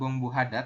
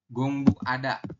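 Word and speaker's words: 공부하다: ya selanjutnya yang ini gongbu tulisannya Hada ya tapi dibacanya bukan gongbu Hada tapi gongbu gongbu ada kayak gitu Jadi dia langsung ya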